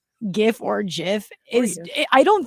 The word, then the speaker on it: GIF: this person on twitter it's supposed to be fast like jiff so that's where that pronunciation comes from but i get her point that it's a hard g wait no like jiffy yes like anna jiffy yeah it's supposed to